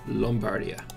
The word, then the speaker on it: Lombardia: Also, Lombardia is pronounced with an O. It produces wheat as well, so it can make the pastry. Lombardia.